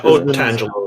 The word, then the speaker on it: Otangelo: Yeah, Otangelo is how he pronounces it.